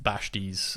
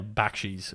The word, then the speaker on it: Bakshi: Uh Ralph Bash's um is that how you pronounce his name? Yeah, Bakshi's Ralph Bakshi's uh Odyssey.